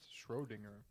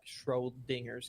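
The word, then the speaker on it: Schrödinger: is boone can't pronounce schrodinger it's actually called like schroedinger's cat yes it's called schrodinger schrodinger so there's no trolling not h r o d i n g e r okay let me try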